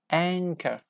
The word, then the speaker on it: anchor: don't pronounce all anchor like C and H together we say K but we don't pronounce H H is a correct answer